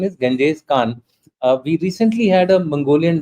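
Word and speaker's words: Genghis Khan: thing about the uh Gangjes it's actually Ganjes Khan that the correct pronunciation is Ganjes Khan we recently had a Mongolian delegation coming to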